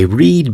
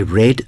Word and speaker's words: read: The spelling of the word R-E-A-D is the same in both cases, but the pronunciation is different. In the first case, it's read, and in the second case, read.